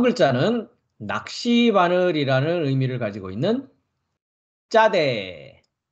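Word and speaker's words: צדי: 다음 글자는 낚시바늘이라는 의미를 가지고 있는 짜대, 짜대, 짜대라는 알파벳이고요. 쌍지읒 음가를 가지고 있습니다. 쯔 되겠죠? 짜대.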